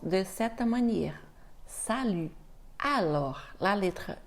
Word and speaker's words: salut: elle se prononce u donc tu dois faire comme si tu faisais ou mais en même temps tu essaies de faire donc U et attention la lettre